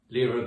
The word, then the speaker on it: Lyra: just called look up i use the pronunciation lyra when i'm talking about the constellation for which lira mckee was named look up the things